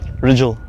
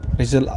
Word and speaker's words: Rijul: How do you we pronounce your name? Rijul. Rijul, and last name? It's spelled Rijul.